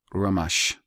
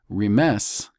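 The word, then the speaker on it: רמש: We have another couple, but we have one that's distinct, and it is Ramash. The Jews would have you pronounce it Remes, because they changed this shin to a sin, Ramash.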